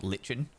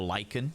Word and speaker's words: lichen: that they were actually got like lichen or lichen depending on how you want to pronounce it on like the roof